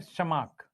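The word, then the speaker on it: Tschermak: एक है Karl coherence, एक है एरिक वोन, टी साइलेंट है, शमाक, और एक है डी वरिस।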